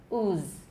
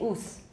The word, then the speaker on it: ooze: voiceless so listen ooze can you hear that at the end there's no voicing in the second half of the z ooze we need that voicing in the first half so please don't neglect that don't say ooze that sounds really funny so ooz so the rule is